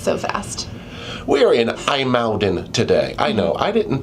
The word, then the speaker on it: IJmuiden: We are in Aalden today. I know. I didn't think that's how you would pronounce that word either.